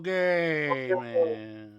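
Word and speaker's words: Gaiman: book by Neil Gman by Neil Gman. That's how you pronounce his last name.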